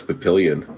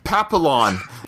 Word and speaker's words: Papillon: but movie bullet yeah I always thought it was Papillion so that was no takeaway from today I learned how to pronounce that movie correctly yeah it's French papi all right you didn't